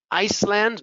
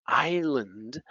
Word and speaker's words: island: Iceland? No, island, isle, debris.